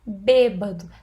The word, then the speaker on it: bêbado: Olha lá, bêbado. Tem acento tônico na antepenúltima sílaba, né?